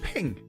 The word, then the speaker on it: PNG: Did you know the PNG file format is pronounced ping? They are ping files.